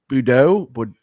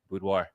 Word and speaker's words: boudoir: All right, let's hit this intro and we're diving into a world of, how do you pronounce that word? Boudoir? Try and say it. You say it. Bordeaux?